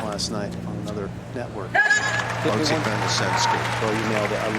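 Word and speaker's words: Botic van de Zandschulp: I heard like 17 different pronunciations of that last night on another network. Botic van der Sandskol.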